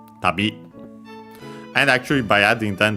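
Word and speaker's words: 旅: Accent on the last syllable. On the last mora, it doesn't change here. Tabi.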